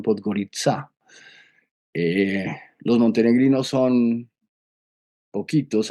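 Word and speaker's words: Podgorica: Nosotros decimos podgarica, pero la C es una sedilla esla y ellos la pronuncian podgoritzá.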